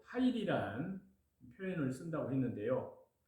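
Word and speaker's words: חַיִל: 여기에서 현숙한로 번역된 히브리어 원문의 표현에는 히브리 발음으로 하일입니다. 하일.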